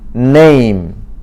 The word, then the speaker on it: name: N은 A는 A, M은 그래서 name.